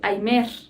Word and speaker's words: aimer: Se escribe aimer, pero se dice aimer.